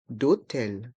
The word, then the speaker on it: hôtel: Et le H du mot hôtel est muet. Donc on fait une liaison avec le D et le O. D'hôtel.